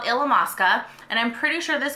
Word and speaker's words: Illamasqua: forget how to say this I love alums Illamasqua I don't know why I just had a